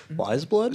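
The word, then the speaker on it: Weyes Blood: right now have you ever heard of her wise blood she it's spelled w ey es wise blood yeah she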